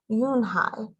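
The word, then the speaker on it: Unhei: no you unhi corrected it's spelled u-n-h-e-i it's pronounced oh yoon ha ha ha yeah hi yoon hi oh it's you hey the boy said like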